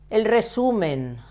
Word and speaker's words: resumen: El resumen. Why do we stress the penultimate syllable? Because it ends in N.